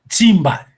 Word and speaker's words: Nzimba: que, na verdade, é Nzimba. A pronúncia está correta, Patrício? Simba. Simba. Sim. O S tem que nasalizar o S.